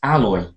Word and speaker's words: alloy: actually is strange because it's not like ahead away it's alloy okay alloy I alloy and do you know